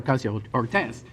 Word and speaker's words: Ocasio-Cortez: It's like what they do with Alexandria Ocasio-Cortez.